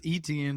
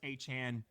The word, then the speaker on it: Etienne: Like I said, I thought you had mixed up Devon A-Chain from the Dolphins, and that's why I was like, nope, it's pronounced the same way. It's just spelled stupid.